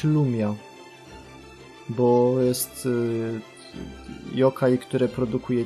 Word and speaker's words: Rumia: W zasadzie Rumia też powinno się wymawiać Lumia. Bo jest yokai, które produkuje ciemność wokół siebie. Lum jak lumen, czyli z łaciny światło. Ironia, ale niech im będzie. No to wolę Rumia, bo Rumia to miasto